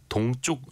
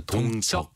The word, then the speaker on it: 동적: 이지선님이 동쪽 요금제가 뭔가요? 동쪽 요금제가 아니라 동적 요금제. 예, 동적.